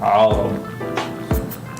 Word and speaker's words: عرب: You gotta say it like that too. You gotta be right in the deepness of your throat. Arab.